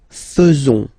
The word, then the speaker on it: faisons: So it's quite strange because French people tend to pronounce faisons. Okay? So like here, this AE is not pronounced like normally we should pronounce it like E, but then like okay?